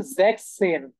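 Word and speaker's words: sechzehn: এটার যে উচ্চারণ সেটা একটু ডিফারেন্ট, সেটা হচ্ছে জ্যাকসেন, জ্যাকসেন।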